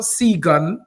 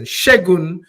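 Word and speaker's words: Segun: I'm going to say it properly. Not Seagun Johnson. Shegun Johnson.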